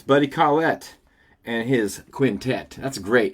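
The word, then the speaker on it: Collette: album, but it's Buddy Colette and his quintet. That's great. If your last name rhymes with quintet and you have a quintet, you should always do that. Buddy Klette and his quintet.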